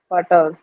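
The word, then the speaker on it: Vater: में क्या पढ़ाते हैं इंडिया में इसको पढ़ाते हैं फ फटर गलत है फटर है ही नहीं जब आप पर जाओगे या नेटिव स्पीकर से पढ़ोगे तो वहा पर फटर नहीं होता है वहा होता है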